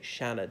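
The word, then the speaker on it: Seanad: which is the senate i suppose you could say Shannon if you really want to pronounce the Irish way and T shook as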